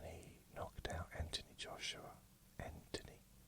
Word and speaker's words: Anthony: knocked out Anthony Joshua Anthony what do you mean? No, Silent H when he knocked down Joshua and defended his world title.